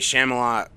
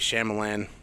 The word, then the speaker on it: Shyamalan: Night Shyamalan, is that how you say his name? M. Night Shyamalan, Ding Dong.